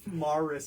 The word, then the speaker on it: Morse: It's not, I said Morse code. Morris. Morris. That's how you say it where I come from in New York.